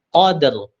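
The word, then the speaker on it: قدر: Itu cara membacanya qadr, cepat. Qadr. Qadr, bukan qadr. Ya.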